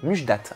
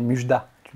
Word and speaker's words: Mujdat: Ouais, je disais Mujda. Et le T se lit. Voilà, il me manquait le T. Donc pour tous ceux qui ne savent pas encore comment prononcer ton prénom, c'est Mujdat.